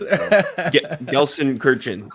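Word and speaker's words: Gelsenkirchen: German knowledge true that is true I guess gson Kirin I said it right this time I learned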